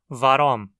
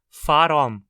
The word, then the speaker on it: waromm: o motivo de algo é comum também ouvi-lo sendo pronunciado faromi com som DF Provavelmente por influência da preposição só como se essa